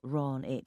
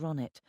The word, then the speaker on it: Ronnet: He pronounced my name wrong as usual, putting the stress on the first syllable, Ron it, instead of the second Ronnet.